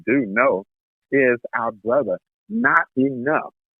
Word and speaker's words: Knottenuff: And that guest, ladies and gentlemen, as some of you do know, is our brother, Not Enough. Not Enough. It's spelled Knottenuff.